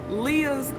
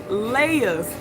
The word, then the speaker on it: Leia: real quick side note it is not pronounced Lea's Grandma it is Leia's Grandma she's on the boat